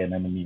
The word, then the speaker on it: anemone: I I pronounce it animon. Some people say anemone, right?